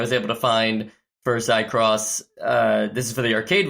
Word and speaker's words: Seicross: But I would pronounce it Seicross. Seicross. Ooh, okay. Seicross. Yeah. Spelled like acai.